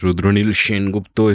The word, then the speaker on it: Rudraneil Sengupta: I'm still with Rudraneil Sengupta, if I can pronounce it that way.